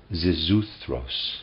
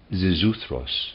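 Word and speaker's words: Xisuthros: Zisuthros, I'll try to pronounce it, in the epic, spelled X-I-S-U-T-H-R-O-S. Zisuthros in the epic, an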